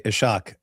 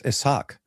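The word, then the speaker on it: Ishaq: accidentally mispronounce it because it's an S and an H side by side. Yeah. Yeah. Uh hey, you know what's funny? I used to do that as well. I used to say ishach and Nil would go it's isach.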